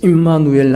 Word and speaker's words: 임마누엘: 임, 함께, 우리와 엘 하나님, 많은 임자, 이 네모 안에 점을 콕 찍어서 앞에도 발음을 한번 주고 뒤에도 한번 발음을 주는, 임누엘 하면 발음이 어렵잖아요. 그래서 임마누엘 하도록 한 것입니다.